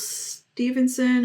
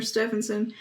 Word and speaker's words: Stephenson: on to reading some Niels Stevenson or Stevenson I still didn't figure out how to pronounce this last name I think it's Stephenson yeah it's devinson because